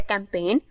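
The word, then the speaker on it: campaign: sound नहीं आ रहा next है कैंपेन इसमें जी को हम साउंड नहीं कर रहे राइट इसमें हम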